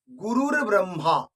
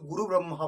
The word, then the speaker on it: গুরুর্ব্রহ্মা: গুরুর ব্রহ্মা, আমরা অনেকে শুধু গুরু ব্রহ্মা বলে দিই, কিন্তু না, গুরুর ব্রহ্মা একটা রেফ থাকবে পরে।